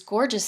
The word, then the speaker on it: Gorjuss: That's another stamp shop that I use, and then I use Gorgeous Stamps. That's spelled Gorjuss.